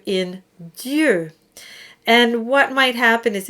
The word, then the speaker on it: Dieu: So make sure you get a nice E sound. Dieu, not Dieu or Dia or anything like that. And that confusion between the E and the OU is quite common, so you'll want to work on that.